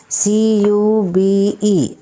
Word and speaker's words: cube: magic e is added this is CB a sound but when magic e is added this will pronounce as letters name q no here is U Cube and the same way